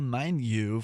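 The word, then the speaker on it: Mainyu: the docma of angra manu from having themselves sounds like a scottish satanic having them i'm probably mispronouncing this last word it's spelled m-a-i-n-y-u anyway they're going to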